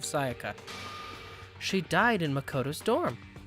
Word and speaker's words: Sayaka: her name every day the first time I try to say her name I say it's Satya instead of Sayaka she died in Makoto